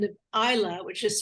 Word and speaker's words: Islay: whiskey distillery on the island of Isla, which is spelled Islay. It looks like Islay, but it's pronounced Isla.